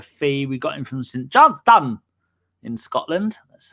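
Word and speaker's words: St Johnstone: We got him from St. Johnston in Scotland.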